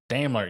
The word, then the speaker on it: Daimler: Is it the Daimler? Daimler, yeah, I believe that's the right way to say it.